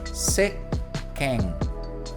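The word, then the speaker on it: せっけん: Nós vamos ler como seken. Estão vendo que tem uma pausa aqui, ó, seken. Então não pronuncie o tsu nesses casos. Não se preocupe se você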